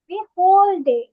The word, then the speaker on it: whole: হোল ডে, এটার ডাব্লিউ তে উচ্চারণ হবে না।